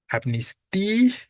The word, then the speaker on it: amnistía: Bueno consecutivas pero pienso Cuál es la tónica amnistia la débil no Por lo tanto tildo obligadamente y lo